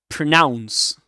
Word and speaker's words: pronounce: A schwa in the first syllable. Pronounce, pronounce, and it rhymes with the second syllable with the word rhymes with announce, right? Announce, announce, pronounce.